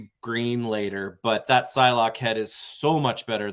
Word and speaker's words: Psylocke: Yes, the P in Psylocke is silent, but the E is not. It's actually Psylocke. So Psylocke.